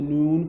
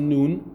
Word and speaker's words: noon: whenever you pronounce the noon and you notice that your tongue is touching somewhere specific and it's actually just behind the top teeth and there is a nasal sound there is some air